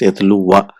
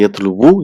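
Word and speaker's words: يتلو: So it's pronounced yatlu wa. So here we don't say yatlu wu, you just say yatlu in marfu, whereas in mansub it will be yatlu wa. Thing to remember.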